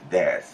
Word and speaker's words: です: But in this kind of situations, always des, and the last you is silent.